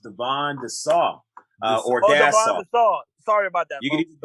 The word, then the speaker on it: Dassaw: my only correction for the night uh is pronounced divine the saw uh sorry about that it's close it's better than dawson it's better than thesaurus had a fourth grade